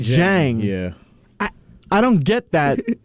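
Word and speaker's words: Dieng: They got our pick Osam Ding? Jang. It's pronounced Jang.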